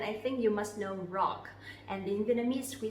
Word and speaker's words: rock: If so, then I think you must know rock. And in Vietnamese we say rock. Rock. Okay? The R sound, we will not pronounce it too strongly, but instead we pronounce similar to English. Rock.